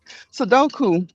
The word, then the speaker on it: Sudoku: do man I said I'm saying it wrong Sudoku because it's just numbers I learned um info